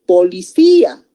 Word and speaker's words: policía: Puedo decir policía. Policía está en la sílaba, en la I, en la última sílaba, y voy partiendo.